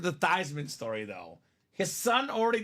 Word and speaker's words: Theismann: The Theismann story. Or Theismann. Proper way to say it.